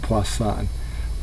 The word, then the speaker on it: Poisson: is spelled like poison but it's uh actually pronounced poisson and it represents the number of occurrences of